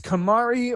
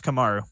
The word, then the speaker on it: Kamaru: It's Kamari or Kamaru. You know what? Someone texted me. Kamaru Usman. Yeah, it's Kamaru.